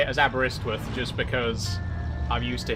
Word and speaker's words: Aberystwyth: It is Aberystwyth. Okay, I'll stop myself before I get it wrong after I've already gotten it right then. I feel like people know Aberystwyth because it's like a very well-known place.